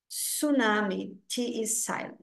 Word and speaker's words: tsunami: um Silent nesse caso a gente não pronuncia o t a pronúncia é tsunami tunami no caso não é